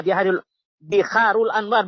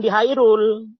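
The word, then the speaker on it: Bihar al-Anwar: Ya, Biharul Anwar, bukan Bihairul. Kalau debat ya, dengan saya harus yang benar membacanya ya.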